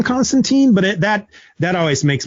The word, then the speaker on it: Constantine: never actually read but i still hear people pronounce him as john constantine and i'm pretty sure it's john constantine but that that always